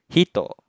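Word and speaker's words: 人: Contoh yang pertama, ketika kanji orang berdiri sendiri seperti ini, tidak ditemani dengan kanji lainnya, maka kanji orang dibacanya hito, artinya orang.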